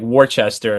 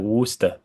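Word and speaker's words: Worcester: blaze is spelled like Warchester and it's like Worster.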